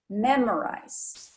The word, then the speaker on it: memorize: shim so we have memorized the stress is on the first syllable memorize okay and like I